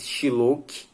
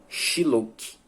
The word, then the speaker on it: Shylock: Essa pronúncia desse nome talvez não seja a mais correta, mas é a forma que eu encontrei de chamar esse cidadão judeu Shylock, ou é Shylock. No filme, às vezes, eles utilizam a pronúncia dessa forma, Shylock, mas eu fico no X mesmo, é S-H-Y-Lock, o nome do rapaz, então eu fico no Shylock mesmo, e eu espero que vocês